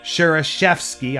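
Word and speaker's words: Schereschewsky: a feast for Samuel sure shoe ski I have sat in this chair for over 20 years said Bishop Samuel eyes of Joseph sir shoe ski pronounced sheriff chef ski I apologize it seemed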